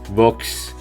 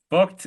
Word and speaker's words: Voigt: Beyond his racing achievements, Voigt's charismatic personality and trademark phrase of "shut up